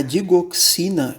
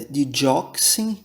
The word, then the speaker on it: digoxin: que entre os cardioglicosideos a digoxina é mais frequentemente pronunciada the dioxin do que digoxin por fim uma última